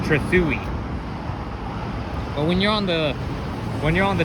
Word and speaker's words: Trethewey: I used to think that this street was pronounced Trethewey Drive, but I mean, I used to think it was pronounced Trethewey Drive, but it's actually pronounced Trethewey.